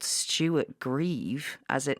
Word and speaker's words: Grieve: But it was soon after this that Renee's lawyer, called Stuart Grieve, as it not even spelled like not grief, it is. It's spelt like grieve, yeah.